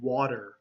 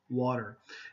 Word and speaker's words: water: cope headlong headlong hurdle now this is another word just like water uh where there is a tea there and if you're saying it very slowly you'll say water but most people use a D sound okay we'll say water water and here hurtle most